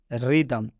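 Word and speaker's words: rhythm: रिदम में भी आप देख सकते हैं आर एच एक साथ में आया है और रूल से बताया गया है कि जब आर एच एक साथ में आता है तो आर एच का उच्चारण र से किया जाता है।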